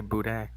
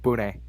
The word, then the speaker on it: boudin: You gotta go full Cajun in that last syllable. Boudin. Boudin.